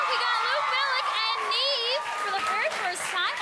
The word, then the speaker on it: Niamh: probably asks you but it's spelled n i a MH but it's NE where are you from